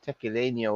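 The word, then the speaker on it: tequileño: you write that, but tequileno would be correct. Yeah, that's how they pronounce that. That's how the master distiller Tony Salzo pronounces it.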